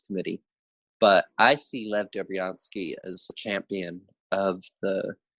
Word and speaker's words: Dobriansky: his name, Dr. Lev Dobryansky, Dobriansky. I'm not 100% sure I'm pronouncing Yep, you got it.